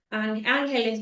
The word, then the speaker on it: Ángeles: Ángeles, no es el nombre. Así se pronuncia con la S al final.